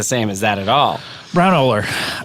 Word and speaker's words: Braunohler: with Browner and uh Brown oler thank you do I have have I been saying it right brown brown no you've been saying it wrong I've been saying it wrong brown oler but wait what have